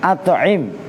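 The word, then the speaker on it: أَطْعِمْ: At'im itu ini diperhatikan, itulah cara siakul kalam supaya kalian gak keder. Hai malaikat Ridwan. Masa kalau dibaca ama atau ut'imu kan gak nyambung, tapi bacanya adalah at'im. Nah ini teknis cara baca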